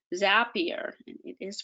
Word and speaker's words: Zapier: Now you can use things like Zapier, and it is pronounced Zapier.